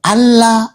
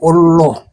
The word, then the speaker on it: Allah: Oh, yang benar yang Allah. Bukan Allah, ya? Bukan. Allah. Ada juga yang bilang itu, ada juga yang bilang huruf A-nya dua itu huruf A-nya dua itu jadi O jadi Allah.